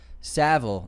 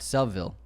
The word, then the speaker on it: Savile: And 28 years later, it's it's pronounced Savile, not Sville.